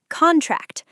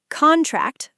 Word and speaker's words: contract: stress on the second syllable. Let's do a few more quickly. Contract. Noun. Contract.